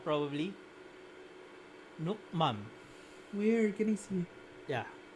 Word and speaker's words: Nước mắm: ano na lang sa Google Translate yung pronunciation. Nước mắm.